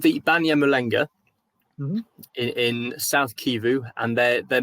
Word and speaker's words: Banyamulenge: How would you pronounce this again? So they're called the Banyamulenga.